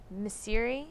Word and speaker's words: Misiri: Well, speaking of that game, you had Misiri. Is that how you say his name? I wanted to make sure I say that right. That's right.